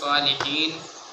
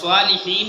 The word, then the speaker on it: الصالحين: এর বাদে আসসালামু আলাইনা ওয়া আলা ইবাদিল্লাহিস সালিহিন আশহাদু আল্লা ইলাহা ইল্লাল্লাহ। আসসালামু আলাইকা আইয়ুহান কোন একটা জায়গা ভুল হয়েছে। ও সালিহিন দে সালিহিন লাস্ট নুন উচ্চারণ হয়েছে না, খালি সালিহি শোনা গেছে।